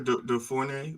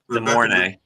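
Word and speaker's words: De Mornay: Was it Rebecca DeFornay? Was it DeFornay? What's that? How's it pronounced? She Ron, you reached know what out. I'm talking about. DeMornay.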